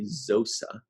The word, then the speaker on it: Xosa: It's spelled Xosa, Zosa.